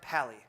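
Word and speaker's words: pa11y: called okay so it's pa-11 why but it's pronounced Palli and the reason why a 11y is because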